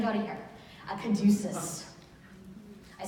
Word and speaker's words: caduceus: A caduceus.